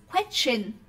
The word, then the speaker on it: question: Khi mà có đuôi S-T-I-O-N thì ở đây sẽ phát âm âm ch. Thì chúng ta sẽ cái đấy là question.